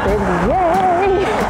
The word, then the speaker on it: beignets: Yay, yay, been yay. That's how you pronounce it, by the way.